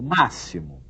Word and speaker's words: máximo: Por exemplo, máximo. Não é? Esse máximo tem som de dois S's, né? Como se tivesse sido escrita a palavra com dois S's, né?